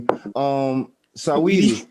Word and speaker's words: Saweetie: Saweetie.